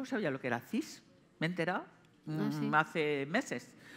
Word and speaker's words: cis: Cis.